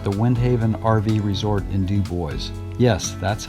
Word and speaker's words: Dubois: three nights at the windhaven rv resort in dubois yes that's how they pronounce it there and this is our base